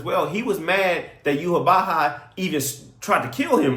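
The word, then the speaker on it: Yhwach: And first off, let another thing another thing, Yuhabaha is not even spelled like Yuhabaha sounds. Like, it's not even close. I think it's like Y W A C H or something like that.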